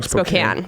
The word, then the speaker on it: Spokane: Spokane is the shit. Am I saying it wrong? Spokane, yeah.